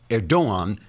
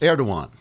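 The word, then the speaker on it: Erdoğan: president Reep erdogan pronounced erdogan because the g is silent as in angster until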